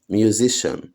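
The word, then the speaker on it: musician: سي اي اي ان ميوزيشن تتنطق ايه ميوزيشن السي اي اي ان دي على بعض تتنطق شن السي اي اي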